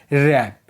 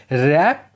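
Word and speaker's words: wrap: देखो अगर डब्ल्यू के बाद आर आए तो डब्ल्यू साइलेंट रहता है। Example रैप means लपेटना। Rack means विध्वंस। यहां पर आप देखोगे डब्ल्यू के ठीक बाद आर आया है। इसीलिए डब्ल्यू साइलेंट है।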